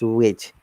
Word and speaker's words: which: It is not which, it is which.